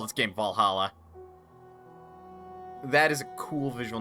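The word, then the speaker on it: VA-11 Hall-A: But yes, it is pronounced Valhalla.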